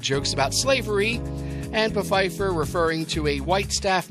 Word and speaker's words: Pfeiffer: had no idea that the p in Pfeiffer was supposed to be silent and forced all the